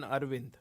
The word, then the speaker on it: Aravindh: Donald says, please note that there are two A's on Aravindh. A-R-A. Even though the second A is sometimes glossed over in the pronunciation of some people.